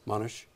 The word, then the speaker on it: Monash: Specht teaches history at Monash University in Australia and splits his time between Melbourne and South Bend, Indiana. Did I pronounce the name of the university in Australia correctly? Oh, yes. Monash?